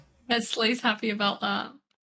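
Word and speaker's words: Slai: Is Goblin pronouncing the ally name correctly? Uh goblin needs to pull up that Slay, right? Slay. Slay. Yeah. Slay.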